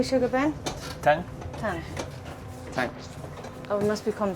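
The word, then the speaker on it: 糖: Tang.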